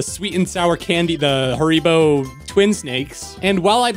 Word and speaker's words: Haribo: How do you pronounce it? Haribo.